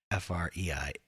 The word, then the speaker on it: Freiheit: Sorry, Americans can't help but go, Freiheit, Freiheit. It's probably something more aggressive. Freiheit. Freiheit. Yeah, there's no R in there. I totally mispronounced it. Freiheit.